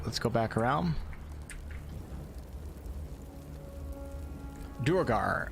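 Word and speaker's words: duergar: let's go back around durgar official dictionary pronunciation is where the final r is not pronounced probably due to the how the norse say it dwerga dwarga so so nobody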